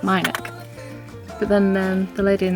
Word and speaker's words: Minack: uh the minich theatre i've changed my pronunciation of it a few times i started by saying minik then i decided that it was wrong because i heard someone else say it my nick but then the lady